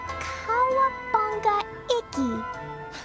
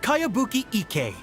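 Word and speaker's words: Kayabuki Ikki: By Kawabunga Iki. Yomiya, this is a really strange name. Who's this Kawabunga? It's pronounced Kayabuki Ike.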